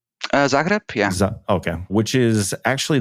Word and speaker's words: Zagreb: Okay, but I mean, as far as that city, is that how it's pronounced? Zagreb, yeah.